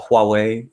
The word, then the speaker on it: Huawei: Huawei one um or as one of my viewers on on YouTube called me it's supposed to be called Huawei the the H is